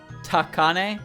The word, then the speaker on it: Takane: If it was a Fumo, it would be ultra expensive, and Takane would be selling secondhand for sure. Oops. Ta should be a syllable with emphasis. Ta. Takane, like that.